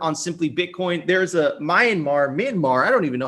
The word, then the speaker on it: Myanmar: There's a Myanmar. I don't even know how to pronounce that. I apologize for anyone. Right the first time. Myanmar.